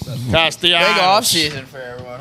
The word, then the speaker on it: Castellanos: So how do you pronounce his name? Sipping Dales over here. Nick Castellanos. It's Castellanos. Castellanos.